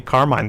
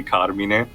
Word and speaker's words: Carmine: Yeah, and also, and by the way, the correct, like I mentioned sporadically previously, the correct pronunciation should be Carmine. It's just that, I guess that's a thing that, America got from the Italian immigrants.